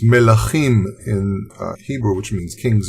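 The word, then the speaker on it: מלכים: Now, in truth, when you read the first chapter of Kings, pronounced melachim in Hebrew, which means kings in plural, or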